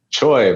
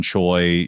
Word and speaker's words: Chiou: Honestly, it's weird how it's spelled, but it is more of like a Taiwanese way of spelling Cho.